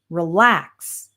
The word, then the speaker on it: relax: And when we have two-syllable verbs, we usually stress the second syllable. So we have relax, begin, delete, arrive.